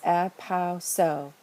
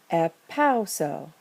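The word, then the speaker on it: ἐπαύσω: We look at the last syllable, see that long omega, and we know that we can only count back 1, 2, and put the acute over the second to last syllable, the penult, epauso.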